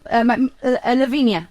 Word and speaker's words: Lavinia: Lavinia.